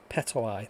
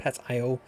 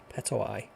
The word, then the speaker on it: Petoi: Petoi, that's it. It's how you pronounce the name. I always think it's Pet-I-O, Petoi.